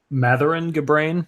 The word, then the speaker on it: Mathuran Gabrain: a ma GTL okay and the guy uh Mathur ngah brain is how you say his name yeah Mathur